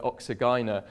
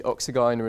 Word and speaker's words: Oxygyne: And then in the middle we have this very poorly known genus, pronounced in different ways, but let's call it Oxygyna, of mycoheterotrophs.